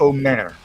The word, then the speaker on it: Omer: Is it Omer or Omer? It's Omer.